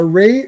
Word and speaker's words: Ra: So in Egyptian uh mythology re and ra a so that's raw son god raw and ray ray it's you you can you can pronounce it ray or raw and it's still correct um you could say